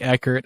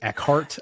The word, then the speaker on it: Eckert: It gets mispronounced all the time, but with a last name like Eckert, I'm sure you can't relate at all. Dude, like, you'd be surprised how many people say Eckhart.